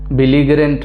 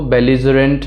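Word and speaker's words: belligerent: अगला है बेलिजरेंट। बिलीगरेंट मत पढ़िएगा इसको, बेलिजरेंट है इसका जो इस प्रोनाउंसिएशन है।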